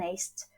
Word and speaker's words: Asch: Hablo directamente de este experimento que me gusta mucho, es el experimento de Asch, Salomon Asch, bueno, en estadounidense sería más bien Asch, su pronunciación.